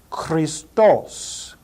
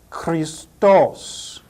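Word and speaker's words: Χριστός: different sigmas written and the word is pronounced with the accent over the last syllable Christos Christos Christos the next word is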